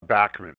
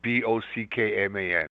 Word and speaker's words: Bachman: You've heard it pronounced several different ways. In Canada, we grew up saying Bachman.